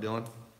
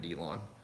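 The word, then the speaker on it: Dyllon: What's up, Dylan? I guess it's Dylan. I was calling it Delon.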